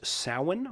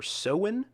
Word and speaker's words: Samhain: Although it's spelled Samhain, Samhain, I was informed that it is pronounced Samhain or Samhain.